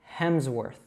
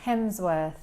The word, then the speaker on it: Hemsworth: So make sure that you're saying that W as a W, not a V, and make sure that you're pronouncing the R correctly. So worth, and altogether, Hemsworth.